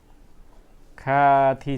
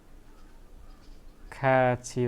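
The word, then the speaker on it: 같이: यहाँ खाथी छ, तर खाथी चाहिँ हुँदैन। के हुन्छ? खाची हुन्छ।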